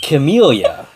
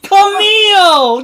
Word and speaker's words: Camille: Camellia. No, that's wrong! Camille! Give me that chip. No, he gets it. He doesn't know how to pronounce words. He's pronouncing the E.